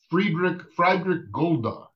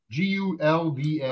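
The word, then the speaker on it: Friedrich Gulda: Uh, I don't know if I'll pronounce it correctly. Friedrich Golda. Does that name ring a bell? Can you say it again, please? Yeah, Friedrich Golda. Gulda.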